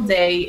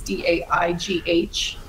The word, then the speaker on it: Daigh: But yeah, it's Daigh, and the last name's Irish, so it's spelled weird. It's Daigh.